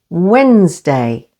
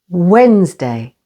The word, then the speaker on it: Wednesday: the first syllable scissors D is silent before or after an N like in the words Wednesday with the stress on the first syllable Wednesday handsome again with the